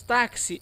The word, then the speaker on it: táxi: ou seja dois fonemas uma única letra x produzindo dois fonemas dois sons um de k e o de s no exemplo de táxi porque quando falamos táxi Olha o que que falamos tá que si é assim que nós